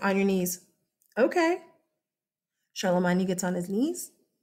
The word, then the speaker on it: Charlemagne: names in class oh you're gonna hear this guy's name said all the time in America as Charlemagne you hear him called Charlemagne because that is the English England the English pronunciation of his name he's not English he's French and it's medieval French it's old French so it doesn't it's not the same language as modern French it's Charlemagne yeah okay okay so Charla